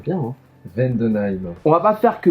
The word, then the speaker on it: Vendenheim: Vendenheim. Il le prononce bien, hein. Vendenheim.